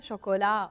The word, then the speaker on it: chocolat: table ou le français chocolat on ne prononce pas le thé du chocolat toilettes du chocolat matin so on écrit à la fin le t on le prononce pas du chocolat thé à